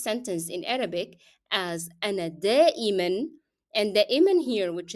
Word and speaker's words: دائما: the meaning of usually, has to be pronounced with the sound of tanween n in all cases because it's a part of the word. You cannot drop it even if you stop on it.